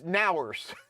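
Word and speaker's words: NOWRS: this was funny too like how would you pronounce this n o w r s it's ners which I thought was great um so yeah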